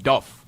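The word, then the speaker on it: Dubh: Dub also is pronounced with a V RF. Duff.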